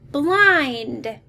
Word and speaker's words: blind: what is it say blind we notice this ind pattern and it like i said it appears to be a closed syllable but it has that long vowel exception let's take a look